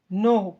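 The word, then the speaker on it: know: उगाया ग्रोन उगाया हुआ नो के साइलेंट है यहां पर के लिखा जाता लेकिन उसको पढ़ा नहीं जाता नो मींस जानो पहचानो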